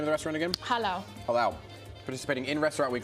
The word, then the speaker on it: Jalao: Everybody, pronounce the name of the restaurant again? Jalao.